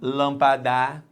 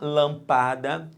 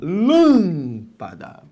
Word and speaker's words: lâmpada: É aquela cuja sílaba tônica não é a última, lâmpada, não é a penúltima, lampada, é a antepenúltima, lâmpada.